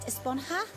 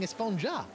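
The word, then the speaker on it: Esponja: Actually, it's pronounced Esponha with an H sound at the end. Really? But we've all been saying Espongja.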